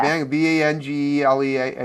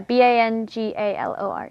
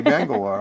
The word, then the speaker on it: Bangalore: It sounds like an easy thing to pronounce, but until you do it's it, exactly the way it's spelled. spelled, yeah, Yeah, Banglear, right? yeah, Bangalore. Oh, okay, Bangalore.